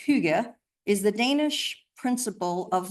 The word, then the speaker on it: hygge: But I think it's pronounced hygge, is the Danish principle of living simply.